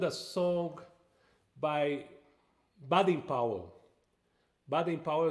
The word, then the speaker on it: Baden Powell: Baden Powell is the way we say his name in Brazil. Here in the United States would be Baden Powell, the famous name here, right, Pinha?